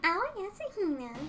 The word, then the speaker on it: Aoi Asahina: I'm Aoi Asahina.